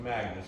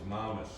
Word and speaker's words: Magnus: right Maus Moler right so it's not pronounced Magnus it's Maus right that's the correct denmarkian term right so here he